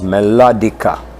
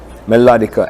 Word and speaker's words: melodica: a maraca let me tell you the Wright's pronunciation is melodica melodica and it's like a cousin I call it